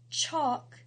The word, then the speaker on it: chalk: the L is silent chalk the L is silent thumb the B is